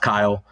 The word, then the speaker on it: Chayil: Um like you said, name is Kyle. Despite what the spelling looks like, um it is pronounced Kyle.